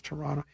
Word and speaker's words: Toronto: Toronto. You don't pronounce the T. It's Toronto.